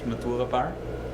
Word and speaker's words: Matura: Matura. Matura. Matura. Gotta roll that R.